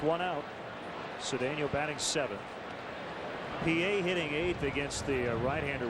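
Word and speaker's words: Pie: name is spelled like Pi of course it's pronounced PA we were joking that he should have been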